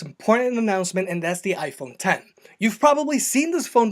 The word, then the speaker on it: iPhone X: product later this week we've got the iPhone 10 which is spelled with a Roman numeral X we've got the iPhone